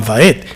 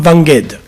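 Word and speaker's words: ועד: So when I was taught to say the Shema Israel, it was not Shema Israel, Leolam Vaed. It's Shemang Israel, Adonai Eloheinu, Adonai Echad, Baruch Shem Kevod Malchuto, Lengolam Vanged. Ayin is Okay.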